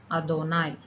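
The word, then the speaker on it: אֲדֹנָי: நம்ம இதை ரீட் பண்ணோம்னா யாவே அப்படிங்கிறத நம்ம ரீட் பண்ணுறோம். ஆனால் ஹீப்ரூவில் யாவேங்கிறது நம்ம ப்ரொனவுன்ஸ் பண்ணக்கூடாது. அதை நம்ம எப்படி சொல்லணும் அப்படின்னா எழுதும்போது நம்ம யாவேன்னு எழுதணும். ஆனால் அதை ப்ரொனவுன்ஸ் பண்ணும்போது யாவேன்னு ப்ரொனவுன்ஸ் பண்ணக்கூடாது. இதை எப்படி ப்ரொனவுன்ஸ் பண்ணணும்னா அதோனாய் அப்படின்னு ப்ரொனவுன்ஸ் பண்ணணும். அதனால தான் நான் இங்கே ரீட்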